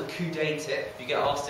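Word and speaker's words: coudé: This thing called a Coudet tip, if you get asked in an exam, it's a good little tip for people with BPH. Coudet tip with an accent on the E.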